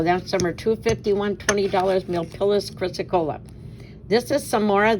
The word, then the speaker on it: chrysocolla: Is Milpillis, and is how you pronounce it, chrysocolla.